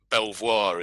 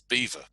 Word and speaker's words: Belvoir: idea that what's written um toe sester is pronounced toaster or what looks like it's what looks like it's it's um belvoir is is is beaver um and evening even the english have differences